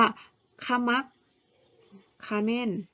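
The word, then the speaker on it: ขะมักเขม้น: ขะมัก เขม้น นะ คะ คำ นี้ นะ อ่าน ว่า ขมัก เขม้น นะ คะ เรียบ ร้อย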